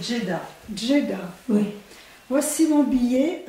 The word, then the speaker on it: Djeddah: On va couper, prononce bien, c'est Djeddah.